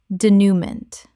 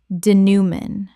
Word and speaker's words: denouement: denouement Correct pronunciation. denouement Three syllables with a nasal final syllable inherited from French.